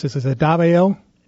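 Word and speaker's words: Davao: Escape from I'm going to how do I pronounce this? Is it Davo? Dva.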